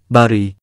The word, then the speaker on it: បារី: สวัสดีครับ ภาษาไทยในภาษาเขมรในวันนี้ ขอเสนอคำว่า บุหรี่ คำว่า บุหรี่ อยู่ในเขมรจะออกเสียงว่า บารี (បារី) เว็บเขมรแจ้งว่า คำนี้มาจากภาษาไทย คำทั่วไป ที่ไทยเราเรียกว่า ยาสูบ ภาษาเขมรออกเสียงว่า ทะนำจ๊วก